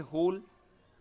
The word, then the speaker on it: hole: इसी तरह से होल, ये HOLE होल, और WHOLE होल, इसका यही है होल।